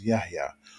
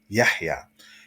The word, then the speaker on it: Yahya: For example, some people pronounce my name as Yahya, or some people may say Yahya, just totally skip over the ha sound, but the correct pronunciation is Yahya.